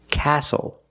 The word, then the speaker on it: castle: We also see the silent T when you have the spelling pattern S-T-L-E. Like these words, whistle, castle, and hustle.